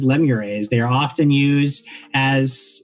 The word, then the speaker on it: lemures: uh and i have never really known the actual proper pronunciation pronunciation but i like lemur a's these are very minor worker devils known as lemures they are often used